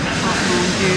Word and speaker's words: Kathmandu: Here we are at the domestic terminal of Kathmandu, which is the proper way to say it.